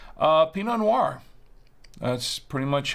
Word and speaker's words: Pinot Noir: how you pronounce it peanut nor uh no it's it's Pinot Noir Noir like think of uh if uh if you're into films you know you know film noir you know like the